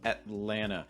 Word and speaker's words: Atlanta: some t sounds so atlanta the first thing you're going to do is you're going to notice this held t sound typically you're not saying